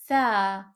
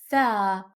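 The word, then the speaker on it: ثاء: Tha, tha. This letter is pronounced like the soft th in English, like the th in the word three, three, not like the th in the word this or the word that.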